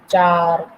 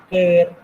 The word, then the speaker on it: char: Some students are pronouncing char, some students are saying care. It's up to you.